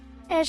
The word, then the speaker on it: Ashe: It's pronounced Ash, the E is silent.